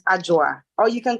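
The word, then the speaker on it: Adwa: So even though it's spelled A D W A, you pronounce it with a J. So it's AA or you can call me.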